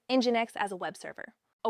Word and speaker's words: Nginx: Nginx, pronounced Nginx, is one of the most popular web servers in the world.